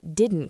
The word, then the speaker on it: didn't: Native speakers often drop the t sound at the end of didn't. So, it sounds more like didn't quite.